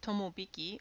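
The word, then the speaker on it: 友引: and the afternoons unlucky the next one can be pronounced tomobiki or Eun this day is said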